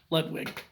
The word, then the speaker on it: Ludwig: Is that how you pronounce it? Yeah, Ludwig.